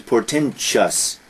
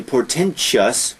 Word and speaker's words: portentous: Now that's interesting because here, although it ends T-O-U-S, the pronunciation is portentous. We were talking about mischievous before, and people say mischievous. Here people say portentous, but there is no I.